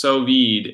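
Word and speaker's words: sous vide: Pronounced Sovid is the device you referred.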